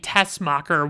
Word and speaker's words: Teschmacher: is Eve Teschmacher, but it sounds like they're saying Tessmacher without the H sound in it. So I don't know. I struggle with that because it's like, I want to pronounce it right, but I feel like they're pronouncing it wrong in the movie.